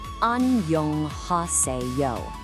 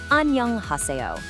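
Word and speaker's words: 안녕하세요: Let's sound this out nice and slow together, syllable by syllable. Annyeonghaseyo. Let's try it one more time, all together now. Annyeonghaseyo.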